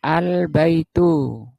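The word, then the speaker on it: البيت: Al-nya masih bunyi al baitu. Di atas lam ada sukun. Ini namanya izhar qomari. Izhar itu jelas bacanya jelas apanya yang jelas al-nya jelas kayak bulan purnama sehingga disebut alqamari. Alqamari albaitu alnya jelas.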